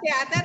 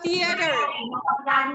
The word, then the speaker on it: theater: Oke, baik pengucapannya teater atau theater? Theater. Oke, good. Theater.